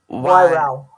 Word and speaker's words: Wairau: I'm thinking that's Wairau. You don't pronounce the U on the end. Wairau.